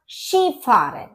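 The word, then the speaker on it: Skifahren: फारन दास शि फारन अब यहां पर आप सोचेंगे कि के लिखा हुआ है के और आई तो के की साउंड तो आ नहीं रही है लेकिन इसका जो प्रोनंसिएशन है वो डिफरेंट है अपनी स्पेलिंग से तो इसका होता है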